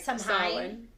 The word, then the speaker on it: Samhain: Happy, okay, how do you say it? Samhain or Samhain or that's okay. But it's really like Samhain.